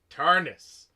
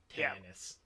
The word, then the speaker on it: Tarnus: point out, not that it's incredibly important, his name is Tarnus, not Tannis.